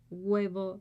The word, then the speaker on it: huevo: Remember, we don't pronounce the H. He eats a fried egg. Come un huevo frito.